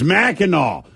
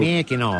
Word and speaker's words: Mackinac: Well, someone says Thrill needs to look up how to actually pronounce Mackinac. It's Mackinac. Now, see, here's the thing. This is one thing I know to be true. Mackinac.